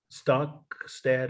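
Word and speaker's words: Stokstad: Stockett, how do you say her name? Stockstead.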